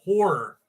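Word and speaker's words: HO99O9: There's a band called Horror. It's spelled HO9909.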